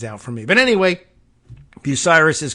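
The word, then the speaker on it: Bucyrus: and Scott here who tells me that busiris pronunciation is correct so I'm moving time to move to Ohio busiris here I come what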